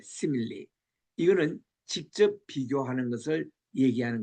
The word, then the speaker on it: simile: 영어로는 simile라고 발음하는데 simile.